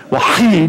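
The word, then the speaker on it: وحيد: Wahid, you clear your throat every single time.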